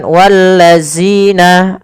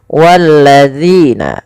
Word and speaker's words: الذين: sini pada lafal zina, hati-hati di dalam melafalkan huruf zal. Jangan sampai kita membacanya menggantinya dengan huruf zai. Misalkan wallazina, ini salah. Kenapa? Karena dia merubah huruf zal menjadi huruf zai.